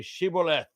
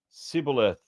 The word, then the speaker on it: Shibboleth: And when he said no, they said to him, then say Shibboleth. And he would say Sibboleth, for he could not pronounce it right.